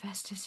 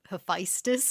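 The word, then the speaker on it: Hephaestus: did y'all think of um of Poseidon calling Heestus his brother? I got distracted. I maybe I would have had a thought about that, but I got distracted by Toby Stevens's pronunciation of Histus is what he said.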